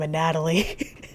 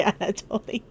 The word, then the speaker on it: Anatoly: Oh, I have been saying his name wrong. I think I've been calling him a Natalie. I'm so sorry, Anatoly.